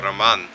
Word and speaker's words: Roman: This also has a custom-made roof spoiler, which is made by a guy in Russia called Roman, or Roman, if you want to say it properly.